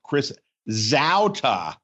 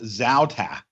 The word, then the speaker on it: Zauta: By the way, Barry, his name is pronounced Chris Zauta. We've been getting it wrong for 180 episodes. What, Chris Zauta? Yes, it is pronounced Zauta.